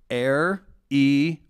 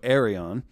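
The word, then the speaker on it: Aireon: Can you have Kym congratulate my daughter, pronounced Air-E-On, that's A-I-R-E/on, so Arion, on joining the illustrious Delta Sigma Theta sorority last week, please.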